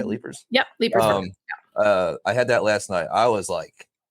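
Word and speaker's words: Leiper's Fork: Yep, Leapers Fork.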